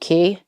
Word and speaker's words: Quay: I think it's called Key. That's how you pronounce it. Quay.